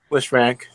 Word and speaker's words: Lisfranc: Lisfranc, yeah.